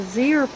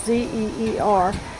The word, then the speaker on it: Zeer: what I'm showing you right now are the Zeer pots, the flower pot cooling system that I made up this year to use.